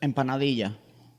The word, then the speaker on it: empanadilla: How do you say that? empanadilla. Yeah, just like that.